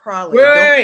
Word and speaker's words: praline: It's pronounced praline.